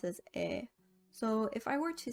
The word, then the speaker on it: 의: 의, which is the possessive particle, is commonly pronounced as 에.